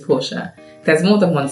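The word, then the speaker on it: Portia: with my name because my name is spelled p o r t i a which is Porsche there's more than one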